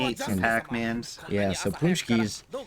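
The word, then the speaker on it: pączki: And they're spelled like that, Paxi, but they're pronounced Punchki in Polish.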